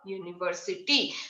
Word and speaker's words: university: But a university. So university क्या है, देखो sound like you.